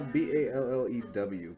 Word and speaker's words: Ballew: Ballew? Is he French? No, Ballew.